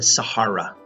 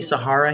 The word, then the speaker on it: Sahara: I'm going to say Sahara here, although Sahara is the most common pronunciation. Sahara is a desert, and Sahara would be probably a little closer to how people would say that name in Africa.